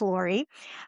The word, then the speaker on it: Lore: Some people think it's pronounced Lore, but it is Lore.